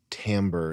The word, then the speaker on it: timbre: It's sort of the same thing as like letting someone with a voice with an incredible timbre. Is that how you pronounce it, Chris? Yeah. An incredible timbre, smoking and being deep and letting their voice wash over you.